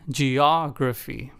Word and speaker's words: geography: For the third word, the emphasis was on the second syllable, og, in geography.